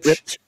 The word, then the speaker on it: Klipsch: Well, I can understand, like, when it comes to something like a Bose or what's the Klipsch? Is that how you say it? Klipsch.